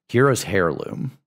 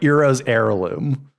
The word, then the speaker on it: Eros Heirloom: all I'm saying exactly Hero's hair Loom I need you to pronounce that better if sorry Eros heirloom thank you error Eros